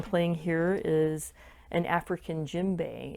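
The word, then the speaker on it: djembe: now what i'm playing here is an african gym bay it's spelled d-j-e-m-b-e it's one of the form of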